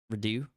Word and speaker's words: redux: That's at least The X is silent, by the way. redo.